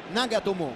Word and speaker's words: Nagatomo: laterale diciamo subito che la pronuncia esatta la giapponese proprio nagatomo con due accenti un tocco di vucinic